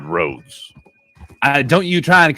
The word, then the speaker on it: Rhodes: things like Johannes or our hordes ah hordes it's the town is called roads uh don't you try